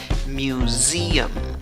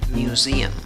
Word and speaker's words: museum: En la tercera sílaba tienes una U en la escritura, pero en la pronunciación no hay una U, hay una schwa, la que no es ni A, ni E, ni O.